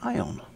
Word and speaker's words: Aion: We did notice last time that it wasn't AION, it is AION.